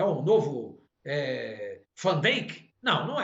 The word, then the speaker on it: Van Dijk: É um novo Van Dijk? Não é. O pessoal fala Van Dijk, né? Eles falam errado aqui. É Van Dijk, correto. Não, correto é ele é holandês, ele não é inglês.